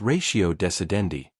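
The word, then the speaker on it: ratio decidendi: She snapped when I mispronounced a Latin legal term. It's ratio desendi, not whatever you just said.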